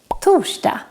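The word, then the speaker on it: torsdag: street of thor and remember that we make this sound when we write together r and s in swedish like in these words toshta tushkotan let's move on to other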